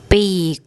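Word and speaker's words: ปีก: wing of a bird now for pronunciation if you think of the English word beak and the English word beak this is kind of in between which is why when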